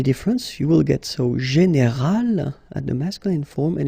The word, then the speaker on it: général: Okay, but then phonetically it's quite interesting because you don't make any difference. You will get so général at the masculine form, and it will be